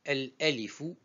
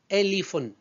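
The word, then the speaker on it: ألف: El-alifu, on dit el-alifu, c'est le nom de la lettre. On peut dire aussi elifun.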